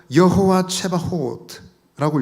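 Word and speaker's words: יהוה צבאות: 때 만군의 여호와라고 했습니다 이것은 히브리어로 여호와 최바호트라고 읽습니다 한번 따라 하시겠습니다 만군의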